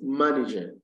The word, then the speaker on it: manager: fourth rule is this if you add the three syllabic word it try syllabic word and it ends in either in error or l y the first syllable is stressed the first syllable is